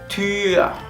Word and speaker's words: Tür: La U con dos puntos sería una U poniendo la forma de la U a la hora de decir la letra y queriendo decir una I.